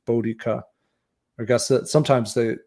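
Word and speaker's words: Boudica: are favoring the pronunciation bodhika I guess that sometimes they they say that middle syllables should actually be more stressed bodica but um anyway our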